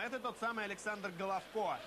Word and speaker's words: Головко: Все по-разному произносят фамилию, в частности, этого игрока. Головко или Головка. Большая часть украинских журналистов, специалистов, игроков, с которыми мне доводилось общаться, говорят Головко. Будем так говорить и мы.